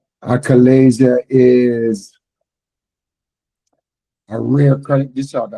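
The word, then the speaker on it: achalasia: Acalasia is a rare chronic disorder of the esophagus.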